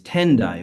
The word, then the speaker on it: Tendai: In Japan, it came to be known as Tendai with the Japanese pronunciations.